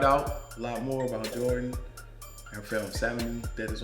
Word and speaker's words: Geordan: And follow me, Jordan at Geordan on Instagram.